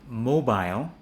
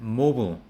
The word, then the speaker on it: mobile: Smile, file, mile, while, crocodile, and in a British accent, mobile, but in an American accent, mobile.